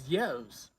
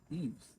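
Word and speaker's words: Yves: What is Yevs? Like Yevs is a homeboy that I used to work with in like Yevs? TGI Fridays. Eves? What are y'all talking about? Yeah, Eves. That's how you pronounce it.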